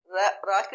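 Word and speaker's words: رکوع: सागर, जमींदार, सवाल, जकरिया, काफ के ऊपर जबर है, जकरिया, रविया, वाव के नीचे जेर है, रविया, रुकू, रा के ऊपर पेश है, रुकू, रुसूख, असरो रसूख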